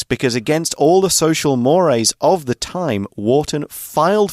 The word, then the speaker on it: mores: the public face very honorable so a social Mor is what is common what is normal at the time now it looks like the word Mo but it's pronounced Mor uh and so to divorce somebody was not